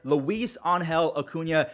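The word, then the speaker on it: Luis Angel Acuña: is the little brother of Ronald Acuna Jr Luis Angel Acuna I did some research and I watched a few videos that's how you pronounce his name and look at him he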